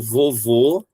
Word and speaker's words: vovô: Por exemplo, que daí tem a diferença do som o mais claro que fica aqui é quando eu falo do vovô e quando eu falo da vovó. Vovô, chapeuzinho. Vovó, som aberto.